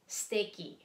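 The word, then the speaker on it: すてき: At tulad ito, suteki ang sulat, pero ang pronunciation niya ay steki, steki, steki, steki, steki, steki na ichinichiwo.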